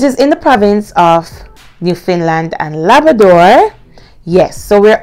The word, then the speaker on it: Newfoundland: university of new finland now it's pronounced or it's spelled rather new found land but it's actually pronounced new finland it is in the province of new finland and labrador yes so we're all familiar with